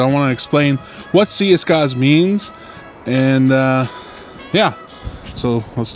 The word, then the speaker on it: Siyisgaaz: Z because I heard the old people used to say it with the way they speak. Siyisgaaz. They said it with a Z or Z, and everyone now says it Siyisgaaz. Siyisgaaz.